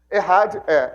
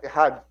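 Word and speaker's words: echad: Errad e c h a d. Escreve e, mas se pronuncia errad e a rid y a ch y e d.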